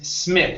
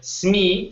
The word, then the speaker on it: Smith: our last word here is Smith instead of SME SMI okay use a short I John Smith Jo John